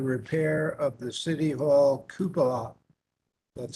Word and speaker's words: cupola: arranged for the repair of the city hall cupola that's how you say it starting with the